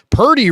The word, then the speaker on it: Purdy: Did you see Mike Florio say that Brock Purdy doesn't have a quarterback name to Peter King,